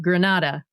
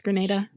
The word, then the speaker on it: Grenada: always get it wrong Granada got it wrong it's Grenada this was a question